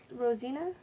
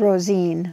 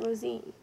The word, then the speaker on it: Rosine: And that's Rosina, right? Rosine. Rosine. Mm-hmm. R-O-S-I-N. I spelled it right, but I pronounced it wrong. I put an A on it.